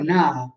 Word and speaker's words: Naha: Esatto, cioè si potrebbe, in realtà è naha. Attenzione, se parliamo di Naha, la città, no. Se parliamo di Na con pronuncia allungata vicino a, è Nawa di Okinawa. Ma Naha è scritto con altri kanji, proprio con altri kanji.